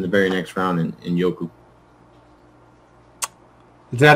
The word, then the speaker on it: Njoku: So that's why I went with another upside tight end right in the very next round in Njoku. Is that how you pronounce it? Njoku? Njoku, yes.